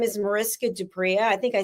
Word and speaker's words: du Preez: The Z at the end, even though it's spelt with a Z, it's not pronounced with a Z.